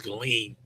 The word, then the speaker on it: Ghislaine: I think the S is silent. I think it's Ghislaine.